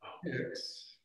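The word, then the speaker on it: pyx: a pix uh so this is a pix it's spelled p y x uh and you'll notice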